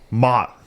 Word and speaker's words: Maat: Maat. Is that the give us a correct pronunciation? Run us through the It's like Mott applesauce.